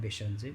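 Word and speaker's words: Bhaiṣajye: As Sangye mentioned, so the mantra of Teyatha Om Bekanze Bekanze Maha Bekanze Raja Samugate Soha, or Teyatha Om Beshanze Beshanze Maha Beshanze Raja Samugate Soha in a proper Sanskrit pronunciation.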